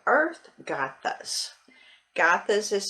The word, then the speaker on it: Gathas: it's uh tignaton and it's called earth gothas gothas is spelled g-a-t-h-a-s and agatha is um you could